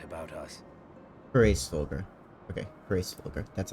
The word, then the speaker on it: Hraesvelgr: Okay, Hraesvelgr.